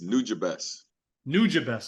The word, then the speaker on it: Nujabes: linking up with uh am I pronouncing this right nujabes is that new job it's nude best I'm sorry yeah everyone gets that wrong is for those don't